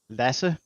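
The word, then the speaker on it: Lasse: Yeah, lassi. That's the way you pronounce it. And that's a common nickname in in Sweden and Denmark.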